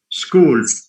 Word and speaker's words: school: School. I mean, the skip, word school, although it has ch, but the sound is k.